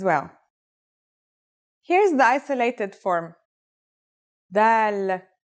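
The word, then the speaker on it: ذال: This letter is like the th sound in the word this.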